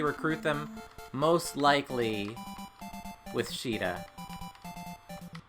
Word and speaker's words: Sheeta: them, most likely with Sheeta. I know it's pronounced Sita, but in this game they added the SH, so it's Sheeta here.